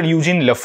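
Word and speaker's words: Eugène Lafont: জেসিউট father ইউজিনি লাফন এটার pronunciation আমি বারবার তোমাদেরকে বলছি এটার একচুয়াল প্রোনাউন্সিয়েশন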